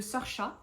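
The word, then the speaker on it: Saoirse: Eh bien, ça parle de Sorcha. Sorcha, voilà. C'est le prénom un peu bizarre, vous savez, qui s'écrit Saorse.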